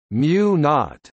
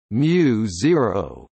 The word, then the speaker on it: μ0: The physical constant mu zero, pronounced mu naught or mu zero, commonly called the vacuum